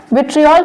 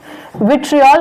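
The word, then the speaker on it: vitriol: Ferrous sulphate को green विट्रियोल के नाम से भी जानते हैं। इसको, जिसको मैं विट्रियोल कह रही हूँ, उसका करेक्ट प्रोनाउंसिएशन विट्रियल होता है।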